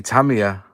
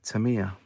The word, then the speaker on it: Tamiya: We say Tamiya, and Americans say Tamiya.